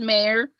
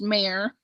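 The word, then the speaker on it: Meijer: to pronounce is just mayor there's just a j in there but it's pronounced mayor oh yeah myers yeah myers meyer i was wondering about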